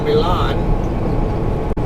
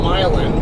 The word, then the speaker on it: Milan: I just came from Milan. I guess some people call it Milan, but that's Milan. Haven't you heard of Milan, Italy? That's how it's pronounced, is Milan, but I guess to each their own.